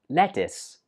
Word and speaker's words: lettuce: This one is pronounced lettuce. Lettuce. Now, of course, the spelling looks like it should be pronounced lettuce. But actually, the last syllable is pronounced is.